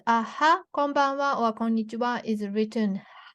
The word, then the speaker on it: こんにちは: But if it's a は、こんばんは or こんにちは is written は. This is a letter は. So は is to how to show is HA, but here is pronunciation is WA わ.